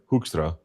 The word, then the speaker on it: Hoekstra: That's a very Dutch last name pronounced Hstra. And how do the Dutch say it? No, that's how they say I mean I mean it would be more like Hoostra, but it's uh they they roll their Rs.